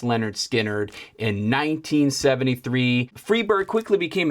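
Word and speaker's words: Lynyrd Skynyrd: skinnard release as part of their debuted album pronounced Leonard skinnard in 1973 freeberg quickly became a signature song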